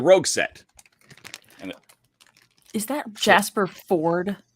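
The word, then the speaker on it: Jasper Fforde: set and is that jasper ford like is that how you say his name jasper ford like they added an extra f and an e for no absolute reasons just to throw people off sorry so for example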